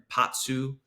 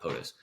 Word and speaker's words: Potsu: But Potsu, not POTUS, Potsu Radio.